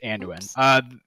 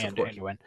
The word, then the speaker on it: Anduin: I said this guy's name wrong earlier. Hang on. Anduin. It's Anduin. King, the king of the Alliance's son. Yes, Anduin.